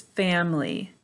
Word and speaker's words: family: Make sure you have 3 syllables.